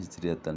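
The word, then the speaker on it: هجرية: Jadi bacanya hijriyatan sebagai ma'dudnya. Di sini dhorof mudhof, kemudian mudhof ilaih mi'atin, kemudian wa khamsin untuk adad 50 ya.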